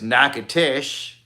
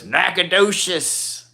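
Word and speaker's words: Nacogdoches: town called nacadas and I was actually thinking it wrong cuzz I it spelled like it's nacatish but it's Macadocious Louisiana and they had the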